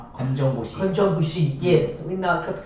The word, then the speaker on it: 검정고시: Well, the good news is we now accept, correct me the pronunciation, 건전구시? 검정고시.